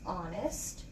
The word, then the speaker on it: honest: kind of looks like Han S but it's pronounced honest and missus ridings if you can fit it